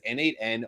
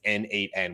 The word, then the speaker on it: n8n: be pronounced either as n8n or nomation the Dual pronunciation consistently mentioned AC cross various sources accessive schol the first and more commonly referred pronunciation is n8n with the number eight in it the pronunciation treats the